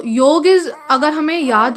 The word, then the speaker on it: योग: इट्स नॉट योगा. हम उसको लिखते हैं इंग्लिश में ए लिखे बिना उसकी स्पेलिंग कंप्लीट नहीं होती है, तो हमने उसको पढ़ना भी उसी तरीके से शुरू कर दिया है, योगा. इट्स जेन्युइनली योग.